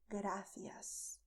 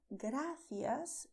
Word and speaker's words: gracias: as you did with gracias. But when you pronounce gracias, you are not going to expel the air. Gracias. It's only the movement of the tip of your tongue touching your front teeth.